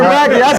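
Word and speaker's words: Brakke: Peter Brackey.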